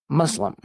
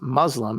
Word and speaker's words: Muslim: If you want to pronounce Muslim as it appears in the Arabic, it should be Muslim. It should start with the sound of moose, not muzzle.